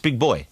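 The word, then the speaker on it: Big Boi: boy yeah big boy how do you pronounce that boy boy just big boy yeah it's spelled boi yeah we might be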